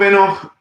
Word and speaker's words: Enoch: about the book of tinach the book of enoch is actually the way that it's pronounced um is it canon no is it